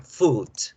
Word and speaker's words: food: Entonces, por ejemplo, la palabra pie se escribe foot, se lee foot, mientras que la palabra comida se escribe casi igual, FWD, y su pronunciación es con la U larga, food.